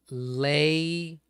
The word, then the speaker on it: lei: it's Li I right cuz Alay is L right lay necklace yeah it's spelled l